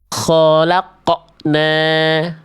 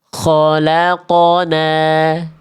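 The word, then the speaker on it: خلقنا: Jangan biarkan resonansi terdengar seperti ini . Perhatikan detail " qalqalah" dalam "qof sukun". "Khalaqna ", "kholaqna". "Khalaqna". Ya, sepertinya ada hentakan di akhir pengucapannya. Sehingga membuat “qof sukun” berhenti tiba-tiba, “khalaqna”. Ya, jadi seharusnya seperti apa? Biarkan saja resonansi itu terlepas.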